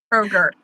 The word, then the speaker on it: Kroger: Kroger.